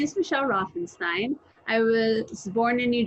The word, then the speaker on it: Routhenstein: actually very happy to welcome registered dietician Michelle rothenstein do I pronounce it right yes you did thank you